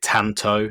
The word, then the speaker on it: Tanto: it earlier but the ronin dojo is it tanto is that how i pronounce it yup yeah the tattoo yep pretty